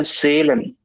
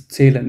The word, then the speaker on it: zählen: Maybe Zahlen the is pronunciation Zählen. It's Zählen, it's A umlaut, okay?